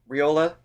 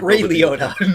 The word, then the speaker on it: Ryota: The choices, even on the guitar lick, that Ryota, I'm always saying his name wrong. Ray Liotta, yes. Not Ray Liotta. No, we have established that as incorrect.